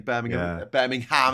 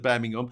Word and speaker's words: Birmingham: English language doesn't make sense in terms of pronunciation. I've heard Americans talk about going up to Edinburgh. Vendetta saying Birmingham. People saying Birmingham instead of Birmingham.